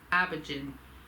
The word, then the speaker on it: Aimhiorgin: So it's spelled AIMHIORGIN, Abergan, and I kept saying Abergan. Oh, sorry, I said Abergan or Abergan or Origin or something like that. I think it's Abergan. I think it's Abergan. It's how it's pronounced.